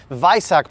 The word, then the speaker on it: Weissach: So some of the factory carbon pieces, because this is a Weissach package car, or as the Germans would pronounce it, Weissach package car.